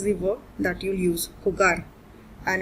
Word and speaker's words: jugar: gamble this is the work that you use khugar and it's not a regular verb it is